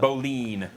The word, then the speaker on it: bowline: how you I pronounce wouldn't it. have guessed that. Boline.